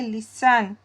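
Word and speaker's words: listen: इसके लिए है लिसन। यह जो टी होता है, यह साइलेंट है। इसको लिसन नहीं पढ़ना। क्या पढ़ना है? लिसन।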